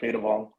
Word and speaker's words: Phaydavong: I pronounce it Phaydavong.